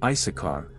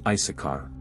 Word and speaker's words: Issachar: Another son of Leah that was not mentioned earlier is Issachar, which today is pronounced as Issachar, but in biblical Hebrew, it is pronounced Issachar. The name Issachar derives from